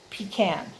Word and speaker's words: pecan: can't read my writing p e c a n i would pronounce that p can that's i i've heard it different ways but i would say pecan the last piece of